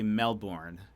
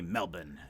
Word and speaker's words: Melbourne: uh so that's why a lot of Americans say Melbourne um but I've I've had to learn to say Melbourne and again I lower